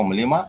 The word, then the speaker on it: mlima: So, mlima Everest, that becomes Mount Everest. Mlima. Mlima. Mlima. So, in the singular, it uh they start with the consonant mm.